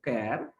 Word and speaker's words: CHAR: Function, एक होता है कैर, एक दूसरा फंक्शन होता है कैर, कैर CHAR, कैर. लोग चार भी बोलते हैं उसको, चार बोलो, कैर बोलो, pronunciation is not impact anything.